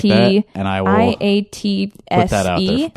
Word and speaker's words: IATSE: Well, if we say it again, IATSE. IATSE. It rhymes with Nazi.